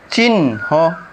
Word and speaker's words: চিহ্ন: 3 নম্বর নিয়ম, শব্দের হ বর্ণের সাথে যদি দন্ত ন ফলা থাকে তাহলে এই হ বর্ণের উচ্চারণটা সুপ্ত থাকে, আর ইংরেজি বর্ণ NHO এর মিলিত উচ্চারণ হয়, যেমন চিহ্ন, মূর্ধন্য।